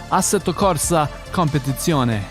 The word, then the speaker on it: Assetto Corsa Competizione: Assetto Corsa Competizione.